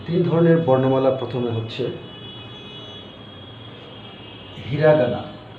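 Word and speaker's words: ひらがな: বা হীরা কানা বা হীরাগানা তো মূলত কানাটা উচ্চারণ হীরার পরে থাকার কারণে এটা হীরাগানা হয়ে যায় এজন্য আমরা হীরাগানা বলি আরেকটা হচ্ছে কাতারকানা কাতা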